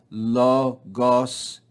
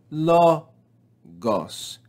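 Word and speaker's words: λόγος: So here, if we look at this word, we see that there's 2 syllables in this word, lo and gos. Lo and gos. But the first syllable has the acute accent mark. So when we read this word, we add or raise our pitch on this first syllable.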